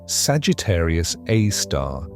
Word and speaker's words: Sagittarius A*: This object is Sagittarius A, pronounced Sagittarius A star, the super massive black hole at the center of the Milky Way.